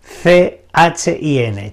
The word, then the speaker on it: chin: con el siguiente chin Cómo suena c h i n chin bien es e es